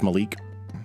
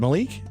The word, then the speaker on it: Malik: guy he's zean Malik is that how you pronounce it well zann Zane yeah Zayn Malik Zay Malik and I think it's Malik is it Malik m a l i k he's part of